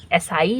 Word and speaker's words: essai: French word से लिया गया है, वहाँ पर स्पेलिंग ये है, एसाई इसको आप बोल सकते हैं।